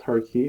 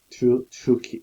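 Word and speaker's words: Tukey: So mostly we use, so it depends on the textbook, but we usually have the two key, not turkey or turkey or two key, but it's two key.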